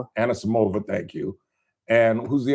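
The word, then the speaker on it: Anisimova: four Americans along with Koko Goff and an Anamas I never pronounced Anna Samova thank you and who's the other American who still got a shot?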